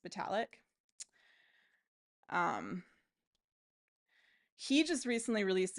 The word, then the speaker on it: Vitalik: And I mean, even like Vitalik Buterin, I think it's actually pronounced Vitalik.